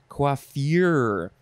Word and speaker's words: coiffure: next is coiffure yeah it's a very subtle difference quaffier uh and this one